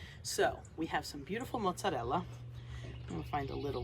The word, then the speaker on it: mozzarella: Learn how to roll your R's. It just sounds so much better when you say mozzarella instead of mozzarella.